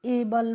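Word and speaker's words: able: तो इसको हम एबल पढ़ते हैं।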